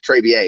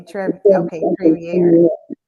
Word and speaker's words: Trevier: Trevier is how it's pronounced, actually. Okay, Trevier. Trevier. Trevier. Okay, it's kind of French.